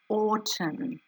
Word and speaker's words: autumn: could trick some people it has that silent mm at the end i wonder if you